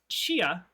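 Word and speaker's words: Tchia: The award goes to Chia, spelled T-Chi, T-C-H-I-A. Helps if I close my eyes. That's dyslexia. I can spell if I close my eyes. Pronounced Chia.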